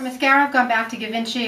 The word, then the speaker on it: Givenchy: For mascara, I've gone back to Givenchy or Givenchy, depending how you pronounce it, and of course I always pronounce it wrong.